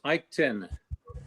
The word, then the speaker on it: Eichten: It's Ike 10. It's Ike 10. Yes, after Ike 9 comes Ike 10. Okay. But you got to learn how to spell it. See? Yeah, it's EICHTEN. So Eichten, we have Gerald Wimmer.